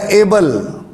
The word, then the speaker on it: Abel: اردو میں اس کا تلفظ ہابل ہے، اور انگلش میں اس کا جو تلفظ ہے وہ ہے ایبل.